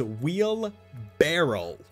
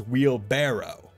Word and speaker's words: wheelbarrow: because everyone near me and myself included says wheel barrel like a barrel it's a wheel barrel we don't pronounce it as wheelbarrow but wheelbarrow is the is the correct word